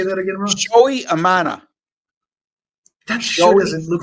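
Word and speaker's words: Shota Imanaga: you say that again Joey Amana that sure doesn't look like how it's spelled I no silent G it's a silent G and and the first name is pronounced showy again I went into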